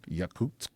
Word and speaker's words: Yakutsk: Yakutsk.